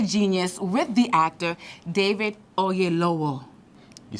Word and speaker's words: Oyelowo: Because you actually sounded like a Yoruba person. So it's Oyelowo is how you actually would say it in Nigeria.